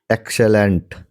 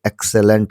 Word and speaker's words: excellent: एक्सेलेंट, EXCELLENT, एक्सेलेंट, इसके pronunciation देखिए, एक्सेलेंट होता है, एक्सीलेंट नहीं, एक्सेलेंट।